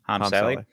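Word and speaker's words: Hame Sele: How do I pronounce it? Hami Saley. Yeah, Harm Saley.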